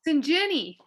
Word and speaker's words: Sinjini: Sinjini, like gin, like you drink.